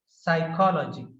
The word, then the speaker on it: psychology: fancy, pace, exercise, tax, psychology. So in psychology, B is silent, and here cement, assume, sir, S is also sir.